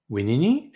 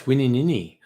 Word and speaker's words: Wininini: Plumbago, Abminga, Wadnaminga, Manunda, Winini? Oh, wait, Winini. No, it's Wininini. I love that. That just keeps repeating the same syllable.